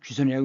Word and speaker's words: 귀선: 돌격선이었다 그래요 돌격선 자 구선이 아니라 귀선이라고 읽는다는 거 껍데기다라는 겁니다 그다음에 사회의